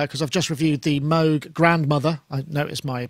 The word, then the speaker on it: Moog: I was playing a little bit of a preview because I've just reviewed the Moog Grandmother. I noticed my pronunciation of Moog.